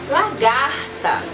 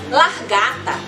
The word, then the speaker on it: lagarta: Isso aqui é uma lagarta. Mas tem muita gente que fala largata. Olha a largata, criançada! E as crianças, quem? Lagarta, tia.